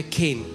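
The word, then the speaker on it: חן: लिए है वह है केन सी एच ई एन बट it's pronounce S केन और जब मैं इस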